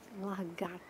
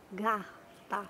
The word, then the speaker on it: lagarta: Uma borboleta e uma largata. Tem que ter cuidado na hora de pronunciar o nome da lagarta, porque tem um R no gar.